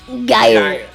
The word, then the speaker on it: Gyre: Is that how you pronounce it? Gyre.